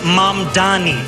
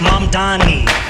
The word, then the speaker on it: Mamdani: The name is Mom Donnie. M A D A N. The name is Mom Donnie. M A N you should learn how to say it.